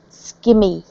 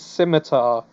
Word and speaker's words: scimitar: But skimmy is wrong to begin with. It is scimitar.